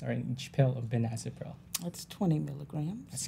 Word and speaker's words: benazepril: Bonanza. I can't. Yeah, it's really hard to say. A lot of patients, I have trouble saying it sometimes. It's actually pronounced benazepril.